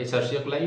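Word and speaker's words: Escherichia coli: Asia कोलाई ठीक है एस चरिया कोलाई मतलब बोर्ड्स में लिख लो स्पेलिंग के लिए और एसिया कोलाई प्रोनाउंस करने के लिए द प्रोसेस ऑफ लिकेशन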